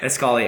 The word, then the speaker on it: Escali: as as scolly is um the way you spell it is e s c a l a Li escali I have an escali and it's kind of